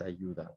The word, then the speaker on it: ayuda: Notice how the U is silent and we just go straight to the I and we pronounce it with like an E in English. ¿Quieres ayuda?